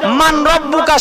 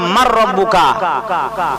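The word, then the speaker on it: من ربك: হবে আমরা জানি তো মান রব্বুকা সবার জন্য তোমার প্রভুকে আসলে সহি উচ্চারণ হচ্ছে মার রব্বুকা রটা এদগামে রক্ষণ না সহি উচ্চারণ করতে গেলে মার রব্বুকা বলতে হয় তোমার প্রভুকে রাবিয়া বসরিয়া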